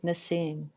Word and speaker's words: Nassim: Is that how I pronounce it? This is what the book looks like. Nassim.